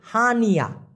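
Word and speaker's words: hanya: মূলত অনেকেই এইভাবে উচ্চারণ করে, উচ্চারণটা হওয়া উচিত হচ্ছে হানিয়া। প্রথম হবে হান, তারপরে হচ্ছে ইয়া, হানিয়া। হান ইয়া না হয়ে হবে কি হানিয়া। যেমন হান ইয়া, ওরা একসাথে উচ্চারণ করে হানিয়া, মানে হলো শুধুই।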